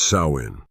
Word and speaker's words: Samhain: It marked the festival of Samhain, pronounced Samhain, the end of the harvest season, and the start of the dark, cold winter.